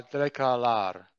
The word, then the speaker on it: declarar: Você tem algo a declarar? Declarar. Declarar. Ok? Clara. Declarar. A sílaba forte, here. Declarar.